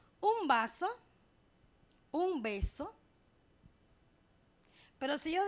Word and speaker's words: vaso: Si nosotros pronunciamos beso, es bilabial, beso, ¿verdad? Pero si decimos vaso, es más rosante. Beso. Si digo beso, lo digo beso, pero si digo vaso, queda como si fuera a pronunciar una V.